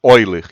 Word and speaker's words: Euler: Leia assim mesmo, eulerianos, porque vem do matemático chamado Euler, e é assim que pronuncia o nome dele.